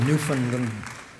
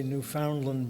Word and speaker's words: Newfoundland: Interesting people of Newfoundland. Actually, I think in Canada you say Newfoundland, but in the States we tend to say Newfoundland, but I'm not sure if that's true. What? Newfoundland, okay.